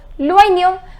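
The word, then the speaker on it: l'oignon: It is loignon. Remember I told you the pronunciation of OI is OA. So it is loignon, which means the onion.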